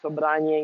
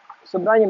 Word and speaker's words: Sobranie: First of all, why I pronounce it Sobranie instead of Sobrani? I know that in English it would be Balkan Sobranie. But if you take the Russian word, Sobranie, Sobranie means group of people, meeting, encounter.